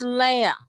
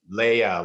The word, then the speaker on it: Leah: It's Leah. Leia, like Princess Leia.